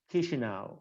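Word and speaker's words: Chișinău: And when you see something written in Moldovan, just you need to pronounce it as it is pronounced in Italian, for example, if you are familiar with Italian at all, Chisinau, so this is pronounced.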